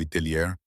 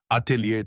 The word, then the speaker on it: atelier: Atelier tradicional, diz ela suavemente, com a pronúncia francesa correta fluindo naturalmente.